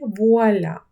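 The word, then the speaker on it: voilà: Р втратилося і вийшло вуа. Вуаля.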